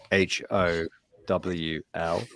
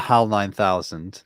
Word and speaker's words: Howl: called hal which i because of my pronunciation h-o-w-l okay how not hal 9000 uh what a lot